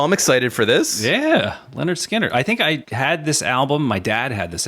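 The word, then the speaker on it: Lynyrd Skynyrd: next week's album shall be the band is Leonard skinnard the album is called pronounced Leonard skinnard oh nice you know what's funny is that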